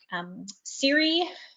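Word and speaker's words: Cire: So in the Outer East, we've also got schools like Siri, which is spelt C-I-R-E, which is confusing, but anyway.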